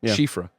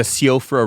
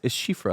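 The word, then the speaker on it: Siofra: at least 12 yeah Cher that's how you pronounce it I learned that shifas shif shifra so that same thing Mike remember that that name it's an Elden ring and it's like the sofra river that's what we always called it but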